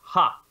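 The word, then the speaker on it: ห้า: The next thing is that in Thailand, the letter 5 is pronounced ha, right?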